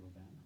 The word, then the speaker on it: Robin: Not Robin, Guy Robin, okay? That's how you pronounce the French name, Robin.